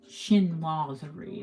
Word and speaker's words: Chinoiserie: Chinoiserie, if we're going to say it properly.